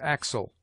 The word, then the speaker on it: axle: It has the sound of KS, as axle, extraneous.